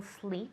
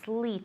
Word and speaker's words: sleet: tomorrow okay good but you're not saying the tea i don't i don't know if it'll relate tomorrow okay sleet it's s-l-e-e-t yeah fleet okay do you know